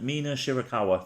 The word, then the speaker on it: Mina Shirakawa: me words today right shy how do you pronounce it Mina shirakawa there you go and venny versus Jordan Grace